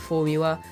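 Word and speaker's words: Formuła: also have abscess and formula which is how you pronounce it in Poland and if they are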